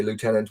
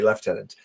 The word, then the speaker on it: lieutenant: left tenant colonels and the Americans say lieutenant, we say left tenant.